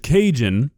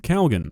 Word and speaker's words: Cajun: time to time, but for the life of me, I cannot understand where the L is coming from. This is Cajun seasoning, if you were unaware. I'm sure you weren't. And somehow, Kay is pronouncing it Calgon. Now look, you call this Cajun seasoning, I'm not gonna be that upset, but Calgon, that's 2 letters that don't exist in this word.